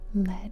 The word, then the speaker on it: lead: The answer is lead, which rhymes with red, the first line of the riddle.